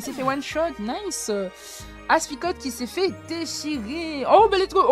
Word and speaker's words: Aspicot: on sauvegarde directement tu prononces pas le thé pour ah c'est juste Aspicot ok ok bah merci